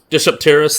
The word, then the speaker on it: Dsungaripterus: Dsungaripterus or something. Dsungaripterus, that's what its name is, yep. I'm stuck with the pronunciation sometimes.